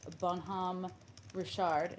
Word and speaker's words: Bonhomme Richard: Bonhomme Richard, did I pronounce it correctly?